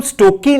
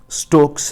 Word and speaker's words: Stokes: इसका नाम स्टोकी नहीं है, इसका नाम ही स्टोक्स है.